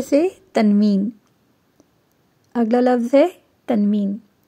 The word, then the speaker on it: تنوین: تنوین۔ اگلا لفظ ہے تنوین۔ تنوین میں نون کی آواز پیدا ہو جاتی ہے، یعنی کہ آپ کے